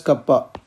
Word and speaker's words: kappa: Here K is called kappa, that is pronounced as kappa.